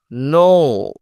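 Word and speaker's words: know: নো মানে জানা, এই খেটা হলো সাইলেন্ট কে, এই কে কিন্তু কোনো উচ্চারণ হবে না।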